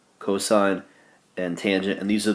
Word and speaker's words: cosine: Cosine's abbreviation cos, still pronounce it cosine, and tangent abbreviation tan.